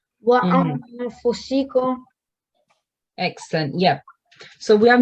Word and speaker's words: وأنفسكم: I think it's incorrect because there's a noon tanween and fa isn't a letter of izhar, so it should be you should make a nasal sound like wa anfusikum.